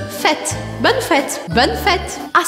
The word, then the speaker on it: fête: N, bonne, bonne, e fête, bonne fête. Fête, tá bom? O acento circunflexo no E do fête vai fazer com que eu abra o som desse E.